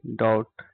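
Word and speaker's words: doubt: ओ यू बी टी डाउट यहां पे B silent है ओके क्या है डाउट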